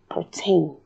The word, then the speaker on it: pertain: and it becomes So pertain is pronounced pertain. Pertain. You'll notice that the rhotic schwa comes out like an R sound itself.